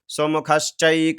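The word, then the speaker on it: सुमुखश्चैक: यहां से देखेंगे ओम सुमुखस चैक सुमुखस चैक दंतश्च आधा स इसमें भी छिपा हुआ है और आधा स इसमें भी है ठीक है तो इसका उच्चारण होगा सुमुखस चैक दंतश्च कपिलो कपिलो गजकर्णक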